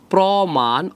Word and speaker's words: প্রমাণ: কি হয়ে গেছে ও হয়ে গেছে আবার বলছি প্রমাণ অ ছিল এটা ও হয়ে গেছে প্র হয়ে